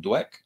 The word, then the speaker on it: Dweck: How do you say this last name? Dweck? Or is it just Weck? Dweck. Listen, Dweck.